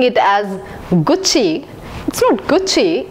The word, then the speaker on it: Gucci: is Gucci yes Gucci I've heard many people pronouncing it as Gucci Gucci it's Gucci Gucci is an Italian brand famous for bags here's